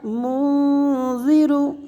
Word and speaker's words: منذر: انما انت انما انت منذر منذر زال ادا کریں گے منذر منذر منذر من